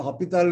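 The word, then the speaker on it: L'Hôpital: This other one is also extremely important, and the different books list the author's name or the name of the mathematician with the S or without S. I don't know, Hopital rule is the pronunciation, but some write it with SP and some without S.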